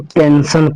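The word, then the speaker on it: pension: बाद आई ओ एन आए तो आई का उच्चारण ओ की तरह होगा, तो इस वर्ड को हम पेंशन पढ़ेंगे, पेंशन पढ़ेंगे तो गलत होगा, इस वर्ड को हम पेंशन पढ़ेंगे।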